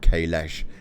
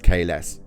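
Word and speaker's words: Kahless: His name's not Kailash, it's Kales.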